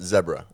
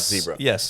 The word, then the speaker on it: zebra: And I did know I did know that it is pronounced zebra. It's not zebra.